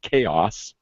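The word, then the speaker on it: KaOS: them was called Kos which I suspect is pronounced chaos and I like it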